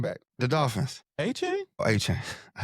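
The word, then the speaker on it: Achane: Acuna? What's his name? Acuna Matata? The running back. The Dolphins. A-Chain? Oh, A-Chain. I said Unbelievable. Unbelievable. I butchered it.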